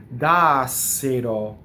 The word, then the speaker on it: Dassero: It rhymes with Placassero in the second line. Dassero. Notice that there's a flipped R and all of the E's and O's are closed in that word.